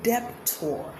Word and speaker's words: debtor: Have you been saying debtor? Have you been saying thumb, comb? The B's should be silent in them, all of them.